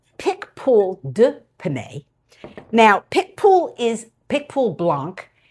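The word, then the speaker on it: Picpoul de Pinet: Now, this first wine, which is this bottle, is pickpool to pan. Nope, it's not. It's pickpool d pane.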